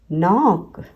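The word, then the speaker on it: knock: नॉट, न्यू, नॉक। WR में W silent है, हम सिर्फ R को यूज़ करते हैं।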